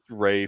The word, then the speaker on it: Ralph: Rafe. Earl said Ray. Rafe.